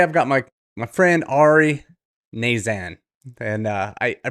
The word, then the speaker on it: Knazan: Today, I've got my friend Ari Knazan. And I pronounce the name like that because for years I've known him as Ari K, and his last name is spelled KN, which is silent K, so I've screwed it